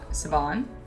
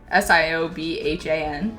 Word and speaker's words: Siobhan: Sabon Sabon. Is that how you say that? S I O B H A N.